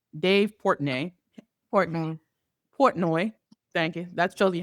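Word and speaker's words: Portnoy: So, for those who don't know, I forget how to pronounce his last name. Dave Port. Portoi.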